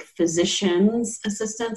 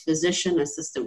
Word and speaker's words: physician assistant: way it's pronounced so a lot of people think physician's assistant so apostrophe s that is actually not appropriate it's physician assistant we don't belong to